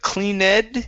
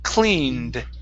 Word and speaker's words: cleaned: Instead of cleaned, it's cleaned. Cleaned. Cleaned. There you go. Just like that. So we do not pronounce this e.